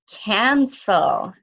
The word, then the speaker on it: cancel: What about the second C? It's followed by what letter? That's right, it's followed by the letter E. If it's followed by the letter E, it must make the soft C sound. It must make the s sound.